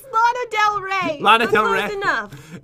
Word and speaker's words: Lana Del Rey: This one was Lana Day Chanel, is that right?